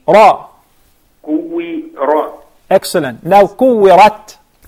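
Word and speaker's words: كُوِّرَتْ: Yes, and make sure the ra has the zabar, fatha, and it is mufakhama.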